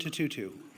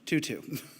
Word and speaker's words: Tutu: words from Archbishop Bishop Desmond Tutu sorry I mispronounced that 2-2 uh hope is being